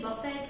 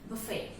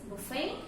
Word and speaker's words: buffet: So the correct pronunciation of this word is buffet. I repeat, the correct pronunciation of this word is buffet, and it's not buffet or buffet. The T should be very low and silent in the word.